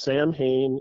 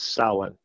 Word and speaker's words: Samhain: Samhain, it's not pronounced Samhain. If anyone says that, please stop saying that. It's Samhain. It's Irish, okay? It's an old word. Irish spelling does not make sense with their pronunciations.